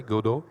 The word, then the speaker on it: Godot: um um you noticed I I pronounce it the French way godo um we used godo